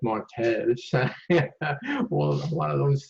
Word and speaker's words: martes: speak it correctly with like Martes, no, it's Martes.